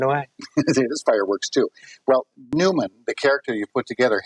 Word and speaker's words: PneuMan: them into mechanical Movement we call them Newman and it's spelled with a p because it's pneumatic and pneumatic okay okay if you